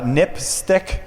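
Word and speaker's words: NPSTC: Safety telecommunications commission um which is just pronounced uh nipstick which is kind of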